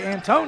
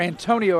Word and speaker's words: Antonio: There's a little floater, and it's good, and that's a nice play that time by Antone Hicks. Or Antonio, I guess would be the right way to pronounce that, and that's the end of the quarter.